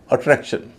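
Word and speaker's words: attraction: अट्रैक्शन में आप देखिए शन के पहले कितने वोवेल हैं? 2, दोनों ए हैं, लेकिन जो दूसरे नंबर पे ए है उसका उच्चारण तो भारी हो रहा है, लेकिन शुरू में जो ए है उसका उच्चारण हल्का हो रहा है इसी तरह सिलेक्शन।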